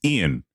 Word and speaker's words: Ian Eagle: a football announcer named Ian Eagle. It's Ian, but he pronounces it Ian.